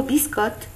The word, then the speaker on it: biscotte: Et dans le mot biscotte, on ne prononce ni le E ni le S.